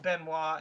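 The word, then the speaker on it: Benoit: Well, I mean Ben Wis the one that you said Benoy is pronounced Benois.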